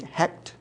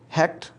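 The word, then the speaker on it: Heqet: embodiment of the goddess h-e-q-t pronounced i think hect who was the wife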